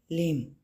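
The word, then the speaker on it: limb: First word है लिम। एल आई एम बी लिम। ठीक है? ठीक है? इसको प्रोनाउंस लिम बोलते हैं। बी साइलेंट लेटर है।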